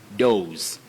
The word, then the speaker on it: dose: With what we call the voiceless sound, s, dose.